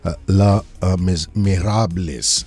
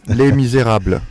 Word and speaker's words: Les Misérables: My friend Sanjay Suri is in studio and he's presenting La Miserables. I hope I've got the pronunciation right. Alexis is going to correct me on this one. How do you pronounce it, Alexis? Les Misérables.